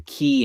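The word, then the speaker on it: Cay: Well, that that goes to like the key and K. Is it Ki or K? I think in America we pronounce it key like Key West.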